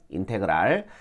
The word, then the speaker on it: 인테그랄: 읽을 때는 인테그랄이라고 읽거든요. 인테그랄.